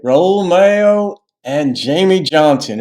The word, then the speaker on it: Malo: Raul Malo and Jamey Johnson. It might be pronounced Mayo, but in Espanol or in Spanish, it would be Mayo, like Cinco de Mayo.